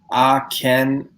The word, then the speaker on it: Akhenaten: So Tim is saying that it's pronounced Akhenaten. Okay, we were close. Akhenaten.